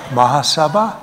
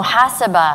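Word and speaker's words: Muhasabah: The accent's on the wrong part. Mahasabha? Oh, Mahasabha.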